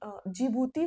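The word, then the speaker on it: Djibouti: Okay seed याद रखेंगे आप देखिए जीभूति को अगर सही प्रोनाउंस करें तो जे हमें याद रखना पड़ेगा और डी जेभूति मैं प्रोनाउंस करती हूं तो मुझे डी याद रखना होता है।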